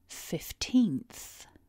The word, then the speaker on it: fifteenth: together repeat after me with a bigger stress and syllable too 15th so here's the word